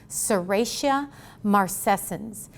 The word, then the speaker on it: Serratia marcescens: out for u you s-e-r-r-a-t-i-a-m-a-r-c-e-s-c-e-n-s i expect you to be able to say serratia marcescens the t sounds like a seratia marcescens and know how to